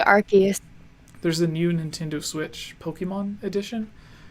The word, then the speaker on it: Arceus: I've heard people pronounce it different ways. Nintendo Arceus? Yeah, I say Arceus.